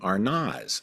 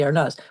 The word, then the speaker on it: Arnaz: So, there is an a sound, not an ez.